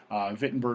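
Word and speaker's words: Wittenberg: his time in vitberg it's pronounced with that V sound because you're in Germany vitberg which was in the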